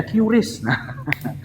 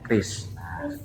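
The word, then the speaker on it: QRIS: bisa nah pakai Kris Mungkin orang dulu bacanya Ris susah karena memang depannya tapi ternyata pembacaannya Kris singkatannya apa coba Kris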